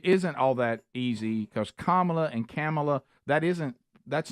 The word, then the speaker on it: Kamala: so we're all used to saying Cala but it's kamla sorry are bad everybody